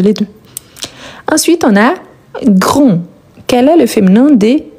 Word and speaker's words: grand: Ensuite, on a grand. Quel est le féminin des grand ? Grand. Super. Attention car grand, on ne prononce pas le D.